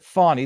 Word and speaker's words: Fani: I want to call her Fanny Willis because if her parents wanted us to pronounce it Fani, they would have spelt it Fawny.